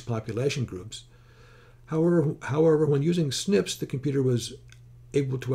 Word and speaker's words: SNP: The same research group again studied the original research database, measuring instead genetic variation of 650,000 single nucleotide polymorphisms, referred to as SNP and pronounced SNP.